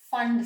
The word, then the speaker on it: Pfund: And if they fall into the fifth shell, we call it as the Fund series, PFUND. P is silent there.